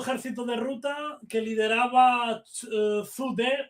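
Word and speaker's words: 朱德: O sea, del octavo ejército de ruta que lideraba Zhu De o Chu Te, según mandarino, el chino mandarino, otra pronunciación. Yo lo pronuncio más como Zhu De, que es porque se escribe así en castellano, pero bueno.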